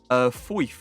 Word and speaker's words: Foyth: Foyth, I believe is how you say it, the objective card.